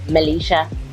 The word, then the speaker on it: Melesha: So my name is Melesha, and it's still pronounced Melisha. It's got one E in.